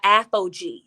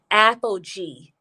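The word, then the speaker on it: Aphogee: it's a great protein treatment it is by apogee you can get it from sally's that is spelled a-p-h-o-g-e-e apogee protein you can get it from sally's or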